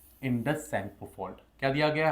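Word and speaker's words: Tsangpo: Indus सेंगपोल्ट। क्या दिया गया है? Indus सेंगपो fault. बच्चों सेंगपो में आपका टी साइलेंट रहता है।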